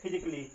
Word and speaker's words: physically: और यहाँ पे भी जो LLY है उसके पहले ए है तो यहाँ पे भी ए क्या है? साइलेंट है। अगर साइलेंट नहीं होता इसको हम का पढ़ते हैं। इसको क्या पढ़ते? का पढ़ते। इसलिए यहाँ पे हम ये साइलेंट है, इसको पढ़ेंगे फिजिकली। ये रहा ए के साइलेंट होने का नियम।